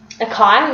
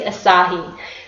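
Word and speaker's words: açaí: So it looks like it's spelled acai, which is what I used to think it was, but it's actually asahi. So it sounds a bit Japanese.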